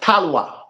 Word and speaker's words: Talawa: And the right pronunciation for the word Talawa is Talwa. But Jamaican have their mix and every word in English language, basically.